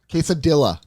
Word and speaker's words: quesadilla: Quesadilla. I want 50 of those. Pronounce it correctly. It's a quesadilla.